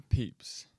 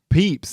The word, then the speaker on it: Pepys: want to say it wrong how do you pronounce it peeps peeps no way I was never gonna say like